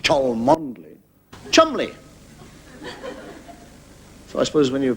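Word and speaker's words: Cholmondeley: you get a name like CH mandley not pronounced CH mondle Chumley so I suppose when you pronounce bottomly you've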